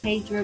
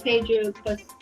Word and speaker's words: Pedro: looks a lot like Pedro pasel it's not ped pasel it's Pedro oh okay so we